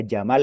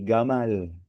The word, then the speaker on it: Jamal: Orang Mesir tuh ee kalau apa namanya orang yang namanya Jamal itu jadi gamal seperti itu.